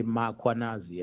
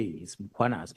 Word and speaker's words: Mkhwanazi: them to pronounce Mkhwanazi, they will put an A after M. They will say Makhwanazi, and there's no A, it's Mkhwanazi, MKH.